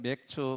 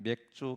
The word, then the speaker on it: 맥추: 오늘은 맥추 감사주일입니다. 발음을 조심하셔야 됩니다. 발음이 잘못되면 맥주 감사절이 되어 버립니다. 보리 맥자 추수살자를 쳐서 어 맥추 감사 주일 다시 말씀드리면 보리를 추소하는